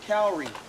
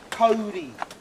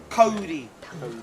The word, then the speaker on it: kauri: trees are commonly mispronounced calry it's spelled k a u r i correctly pronounced Cody Cody if you took the